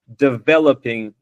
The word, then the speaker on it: developing: it's not wrong but you put the emphasis of developing put it very heavily on the first syllable which is not something that we always do in English. So developing so if yeah now